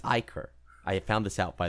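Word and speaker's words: Ichor: One Tap add to generic a it's Iker I found this out by the way wow no it's it comes from the Greek language I I think I was told it's Iker so I've been saying it wrong this whole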